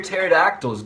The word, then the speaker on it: pterodactyl: why can't you hear pterodactyls go to the bathroom because the p is silent what did the pirate